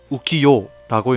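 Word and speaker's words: 浮世: 한자로는 뜰, 부, 세상 세자를 써서 우키요라고 읽는데요.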